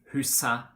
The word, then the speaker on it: huset: article of a noun, like for example in huset, bordet, vinduet. Okay, in these situations we do not pronounce the T.